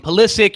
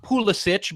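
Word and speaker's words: Pulisic: you can call him psic you can call him his his name really should be pronounced pich but he wants to be called psic so we're gonna call him psic so with that being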